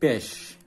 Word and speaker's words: beş: 5 besh, S-nya pakai pancing.